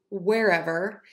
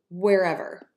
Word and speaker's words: wherever: Same thing here, wherever. Think of pronouncing this word as where, like we wear clothes, wherever, wherever.